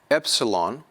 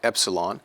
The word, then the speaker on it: epsilon: D like drive drive Epsilon will be pronounced as a short e like Express Express Zeta will be